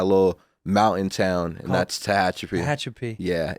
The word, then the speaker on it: Tehachapi: You grew up, Nick told me, I can't even pronounce it. I tried 6 times. You got it. Tehachapi? Yes, sir.